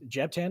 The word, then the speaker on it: Jeb Tan: get another person um is Jeb tan is that the right way to say it yeah it is um if did you